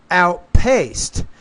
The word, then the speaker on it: outpaced: a minute exactly now here you have to pronounce the P more outpaced the trail Runner outpaced the other Runners so you're you're putting the stress on the right syllable but you just have to pronounce the p with more Air outpaced outpaced One okay now